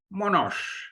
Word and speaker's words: Monash: the experiences shared in monash university if i get the pronunciation right yeah that's correct monash university when i said you